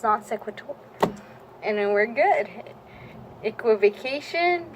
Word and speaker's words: non sequitur: to definition non sequitur don't know how to pronounce that we're saying I'll just say it with confidence it's non sequitur and then we're good equivocation equal a cry